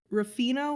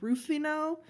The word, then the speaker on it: Ruffino: It's either Ruffino or Rufino. It's Ruffino, and it's their Moscato, and it's very sweet, but it's so good.